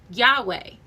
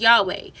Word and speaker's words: Yahweh: Okay because of this exact ancient pronunciation was lost. Modern groups reconstructed pronunciation as Yahweh.